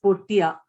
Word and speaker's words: Portea: name is meena and my company's name is portia and i would appreciate people pronouncing it as such obviously something that we